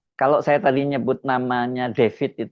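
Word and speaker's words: Defit: Kalau saya tadi nyebut namanya David itu bukan dalam bahasa bukan ejaan dalam bahasa Inggris David itu bukan. Ini tulisannya memang David. D E F I T itu kemudian Febriansyah nih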